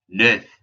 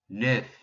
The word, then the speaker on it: neuf: Just like in our word for two, de, we have that EU, that new vowel sound. And F is one of the few letters that no matter what always gets pronounced.